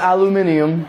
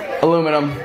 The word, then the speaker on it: aluminum: There's no I after the M. Nope. Not gonna do this right now. You don't have to make me look stupid. Aluminum.